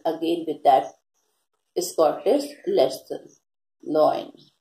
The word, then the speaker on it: Löwen: Loin. Loin is pronounced here and it is written here Löwen.